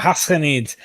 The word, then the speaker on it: Ghassanids: It's like it's not a sound you have in the English language. Yeah. But you pronounce it way deep, like the French would pronounce their Ghassanids. Yeah, Ghassanids.